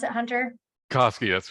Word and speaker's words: Koski: And so Hunter Koski, is that how you pronounce it, Hunter? Koski, that's correct.